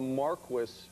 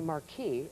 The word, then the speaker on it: marquis: then the is it a marquee or a marquis and a mar cu cu some people some people pronounce it different way well it's called actually Marquee and marones maress and then we have the